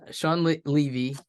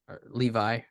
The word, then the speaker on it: Sean Levy: yeah uh yeah uh sorry Sean Levy Levi I think it's Sean Levy yeah I didn't want